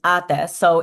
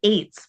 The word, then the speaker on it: ate: If it's an older Oh, sister, you use ate. So in this case, it's actually three older sisters and a wedding. Mhm. interesting. And you know what? I thought it was eights, but it's ates.